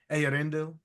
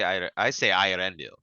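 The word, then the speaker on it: Eärendil: Then I was like, you know what, Ayarendil. Yeah, I say Irendil.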